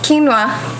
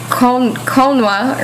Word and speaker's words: quinoa: Quinoa, it's good. Some people, well, I first started calling it quinoa or something, but it's pronounced quinoa.